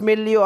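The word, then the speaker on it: milieu: Pangalawa po itong tinatawag nating milotherapy that is pronounced as milo milotherapy a safe structured group treatment method for mental health issues.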